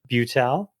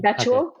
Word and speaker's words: Betuel: There was some great writing that Jonathan Butel said. Did I say his name? Betuel. Betuel.